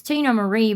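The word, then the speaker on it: Teena Marie: Then this person, it's Tina Marie, but it's spelled T-E-E-N. Tina Marie.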